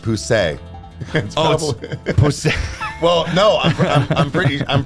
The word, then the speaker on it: Poussey: ball drop so oh let's see okay it's pronounced poussey well no I'm pretty I'm pretty sure from